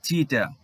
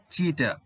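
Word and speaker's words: cheetah: ইংরেজরা কিন্তু ত এর উচ্চারণ করতে পারে না, তাই এরা ট বলে। তো এটিকে করে দিয়েছে ওরা লং সাউন্ড, চিটা। তো এই পার্থক্যগুলো কিন্তু আমাদের জানতে হবে। তো এখানে বাংলায় যখন বলবো তখন বলবো চিতা, যখন ইংরেজিতে বলবো তখন বলবো চিটা।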